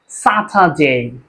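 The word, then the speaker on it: Saturday: D, consonant আসছে, যার কারণে কি এখানে আরটার উচ্চারণ হবে না। তাহলে কি হবে? স্যাটারডে, স্যাটারডে।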